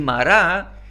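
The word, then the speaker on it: Mara: hebreo mi dulzura y mará lo digo así porque los judíos lo pronuncian así mará significa amarga y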